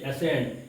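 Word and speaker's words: ascend: এস এ এস ই এন ডি কি হচ্ছে এসেন্ড এটা সেন্ড হবে না এসকেন্ড বা এসেন্ড উচ্চারণ হবে না কি হবেন্ড কি হবে মানে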